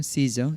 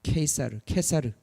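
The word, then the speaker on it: Caesar: 시저, 영어로는 시저라고 그러고, 미국 사람들이 무식해가지고 C를 K로 읽어야 되는데 S로 읽어가지고 시저라고 그러는 거예요. 이게 미국 사람들이 무식해서 그런 거예요. 근데 미국 사람들이 지금 전 세계에 다 시저라고 읽으라고 그러죠, 그죠? 그게 아니라 원래는 케사르, K로 읽어야 합니다.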